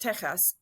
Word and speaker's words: Tejas: means colored or beautiful Texas is pronounced Tejas and means friendship in